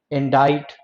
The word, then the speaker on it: indict: accuse someone, when you blame someone, when you indict someone, when you incriminate someone, when you inculpate someone। जब आप किसी को दोषी ठहराते हो ना, inculpate, incriminate, allege, accuse, blame, indict और inculpate।